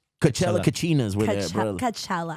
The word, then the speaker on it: Coachella: Coachella. How do you say it? It's Coachella.